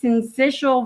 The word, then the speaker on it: syncytial: to do this wrong respiratory syncytial virus i know it doesn't look like that but i like i watched a doctor saying it and he was teaching kids how to say it respiratory and central virus